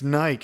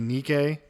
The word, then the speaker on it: Nike: How many E's are on the end? It's Nike. And I'm like, except for the fact that it's a Greek word. Yeah. I mean, arguably, we're not pronouncing it correct either because it should be Nikke. Yeah. But still, it's got two syllables.